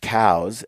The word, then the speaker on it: Coues: So we're hunting coues deer, pronounced cows, actually.